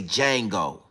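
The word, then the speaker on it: Django: And I'mma say, "Jango." What's your name, boy? Jango. Jango. Yeah, the Jango. You know how to spell that? Yeah, I know how to spell that. The D is silent.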